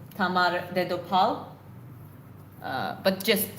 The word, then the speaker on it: Tamar: It's Queen Tamar.